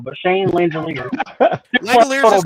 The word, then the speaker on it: Langeliers: But I probably spelled this man's name wrong, and I'm pretty sure I'm gonna say his name wrong. But Shane Langeliers. Langeliers is correct, and you did spell it wrong, but I corrected it, so we're good.